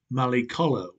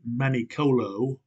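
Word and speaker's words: Mallicolo: on which we were this they called malikolo footnote or Mali color some of our people pronounced it manicolo or manicola and thus it is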